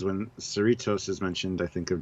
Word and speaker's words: Cerritos: So everybody's like, just think of Doritos.